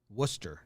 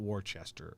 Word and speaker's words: Worcester: all right you're out worcester not worchester worcester okay worcester ruby legs mass and